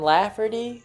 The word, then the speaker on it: Lafferty: And then Keenan Lafferty, and I can't remember how to spell it, but I think it's K-I-E-N-A-N, and then Lafferty, like laugh, but if you misspelled it, and Erdy, as in like Erdy.